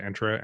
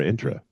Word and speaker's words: Entra ID: ID or intra ID I got to get the real pronunciation of that an entra or intra I would say it's entra okay um but let's